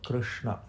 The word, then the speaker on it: Krishna: Whereas sh, which is the sound in Krishna, which many people pronounce similar to Shiva, but it's not right because it's a different sh, and that is when you roll the tongue inwardly.